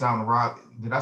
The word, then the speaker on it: Raleigh: About Shaw University, it's out in Raleigh.